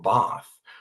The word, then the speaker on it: Bath: combine that with a trip to London or Bath or did I say it right, Tara?